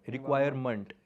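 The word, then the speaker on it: requirement: कभी भी इंग्लिश में MENT आता है लास्ट में, तो उसकी प्रोनाउंसिएशन होती है मंट, मंट, मेंट नहीं, मंट। रिक्वायरमेंट, रिटायरमेंट, इंस्टॉलमेंट, तो मंट होता है।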